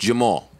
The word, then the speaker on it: Jamil: let's do it your your name is spelled Jamil but it's pronounced Jamal hmm you are a